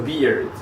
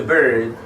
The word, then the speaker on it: beard: say you grow a beard and by the way we can focus on pronunciation it's not a bird it's a beard but you can over